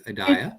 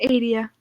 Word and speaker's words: Adia: If I'm mispronouncing your name, please tell me, but I think it's Adaya. It's Adia.